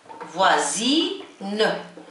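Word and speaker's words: voisin: اذا فوا فوا وزيدوا زين، فوازين فوازين.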